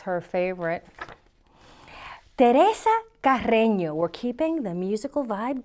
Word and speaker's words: Teresa Carreño: Teresa Carreño, let me pronounce that in English for you. Teresa Carreño, because, I go to the Spanish, but there are English pronunciations of this.